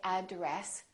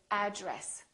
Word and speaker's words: address: We don't say address, we say address.